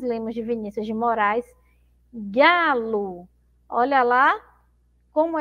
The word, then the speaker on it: galo: de Vinícius de Moraes galo Olha lá como é que é separar sílabas galo galo então eu pronuncio como se tivesse uma letra U mas na verdade eu tenho uma letra O certo bom Então olha